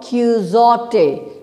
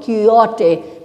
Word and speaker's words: Quixote: Like in Don Quixote, we don't say Don Quixote, we say Don Quixote. Because in Don Quixote, X is silent.